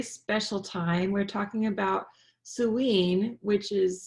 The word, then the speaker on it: Samhain: We're talking about Samhain, which is spelled Samhain, which is All Hallows Eve, last night.